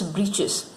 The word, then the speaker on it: breeches: Actually, it's not breeches, children. It's breeches. Or short trousers, we can say. But here, a simple explanation is given. The writer here spells it for fun to rhyme with the word witches.